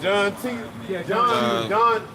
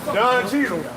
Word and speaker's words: Don Cheadle: Like John Cheadle. Don Cheadle. Yeah, fuck that nigga. I say his name wrong.